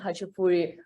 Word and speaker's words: khachapuri: Can you tell us a little bit about khachapuri?